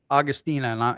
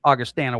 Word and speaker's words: Augustana: Because I have heard of, I used to pronunciate it Augustina, and I apologize, Augustana World, but I have heard of your university, and they won a lot, right?